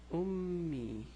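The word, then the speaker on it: أمي: So it's me, but we have a shadda, so it's me, me. So we have double memes. Remember, shadda. So it's pronounced as if it's ummi.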